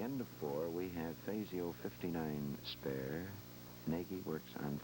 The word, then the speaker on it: Fazio: spell it right but he thinks faio is correct around the Motor City over the years in Detroit most of his friends actually called him fasio the pronunciation we'll try to stick to so at the